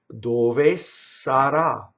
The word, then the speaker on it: dove sarà: So you would say dove sarà. See, double S.